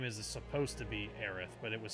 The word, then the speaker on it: Aerith: Oh, Japanese version is Aerith. English version is Eris. Yeah, but the official spelling of her name is Aerith, not Eris.